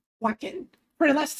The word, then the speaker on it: Wacken: How do I pronounce that? Waken? Wacken.